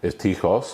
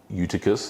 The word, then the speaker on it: Eutychus: And there was a young man named Eutychus, or in English just simply Eutychus, if you want to pronounce it that way as well.